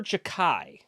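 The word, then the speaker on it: Xhekaj: It is pronounced Arbor Jacquai. That's Jacquai. Right. Jacquai. Before. Jacquai. Yeah, it's Albanian.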